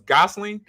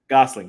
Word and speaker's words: Gosling: me and chat guys so it was Gosling Gosling Ryan Gosling okay because I hate saying people's name wrong because people destroyed my name when I